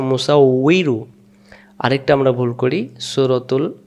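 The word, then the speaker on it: مُصَوِّرُ: অনেকে আবার বিন পড়ে, যেমন সূরাতুল হাসরে আমরা অনেকে বলি মুসাব্বিরু, এখানে আছে মুসাউইরু।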